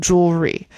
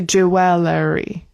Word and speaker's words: jewelry: And we kind of don't pronounce all of the vowels in that one. Jewelry. We don't say jeweler. Jewelry.